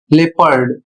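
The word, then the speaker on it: leopard: अर्थात आपको इ बोलना है। ओ नहीं बोलना है।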